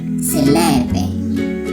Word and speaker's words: selepe: An axe in Setswana is selepe. That's how you say an axe in Setswana.